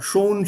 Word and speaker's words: schon: Okay, so be very careful here. Schon, schön. Die Aussprache ist sehr, sehr wichtig. Because if you mispronounce it, the meaning will change.